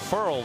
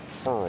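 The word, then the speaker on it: Ferrell: A fired up Cleveland Furl led the Clemson front and he did tell us earlier in the year it's pronounced furl furl like referral.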